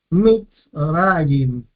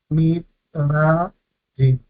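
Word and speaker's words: מִצְרַיִם: Entonces, C, consonante vocal, la sílaba es abierta, gol, consonante vocal, consonante, la sílaba es cerrada. Mitzrayim, Mitzrayim, tenemos la primera sílaba mitz, mitz, termina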